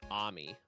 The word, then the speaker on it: Ami: So the the way official pronunciations I've heard is it's they pronounce it Ammy. Well, I'm going to say Amy.